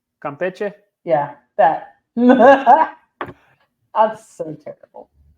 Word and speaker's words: Campeche: Campeche. Campeche.